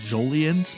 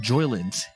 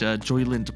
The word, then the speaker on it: Joyland: comment on earlier so we've always pronounced it jolians but for whatever reason actually I only realized this pretty recently it's spelled Joyland in this game I don't even know